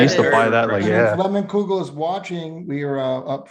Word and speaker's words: Leinenkugel: I can't even pronounce that. What is the name of the beer? How do you say it? Leinenkugel.